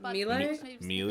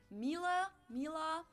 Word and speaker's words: Miele: I've never seen that Miele usually say something like Mila Mila um so it usually sounds more like an A in the end whereas in German we